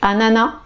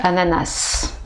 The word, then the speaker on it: ananas: les deux façons donc la première façon c'est à nana et la deuxième phase on sait ananas ou on prononce le smdra les deux prononciation sont corrects il y en a une qui est un peu plus soutenue que l'autre donc celle qui est un peu plus soutenu c'est à na na voilà et l'autre c'est un peu plus courants voilà alors le troisième